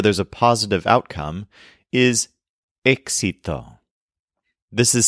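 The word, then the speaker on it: éxito: like this where there's a positive outcome is exito this is spelled e exi t o with an accent mark on the initial e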